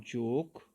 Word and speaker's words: joke: In rap class, W is silent, and let's talk about joke. What do you think is silent? Joke. Joke. It's very simple, class. When we talk about joke, E is silent.